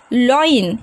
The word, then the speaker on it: loin: अभी next word देखिए friends, LOIN, इसका प्रोनाउंसिएशन है लॉइन, यानी कि कमर.